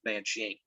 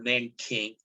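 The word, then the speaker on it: 南京: During the second Sino-Japanese War, one of the well-known atrocities during that event was called the Rape of Nanjing, or Nanking, depending on pronunciation.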